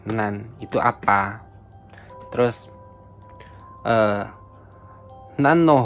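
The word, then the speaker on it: 何: Kata yang menunjukkan sebuah bilangan. Misalkan nansai sayai di sini kan umur. Umur kan sebuah bilangan kan umur. Umur kan sebuah kata bilangan. Jadi bacanya nan. Contoh lain misalkan 6 bank. Bank itu kan ee angka nomor nomor berapa itu pakainya bacanya nan. Selain selain syarat ini kedua kedua syarat ini selain itu dibacanya nani.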